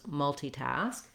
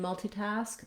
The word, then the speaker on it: multitask: correct pronunciation, which was multitask, which had the letter I as the E sound, multi. The stress in multitask, the main stress is on task, and then you have